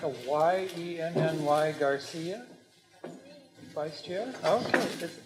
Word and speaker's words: Yenny: And I believe this looks like a Y-E-N-N-Y Garcia, Vice Chair. Okay, how do you pronounce that?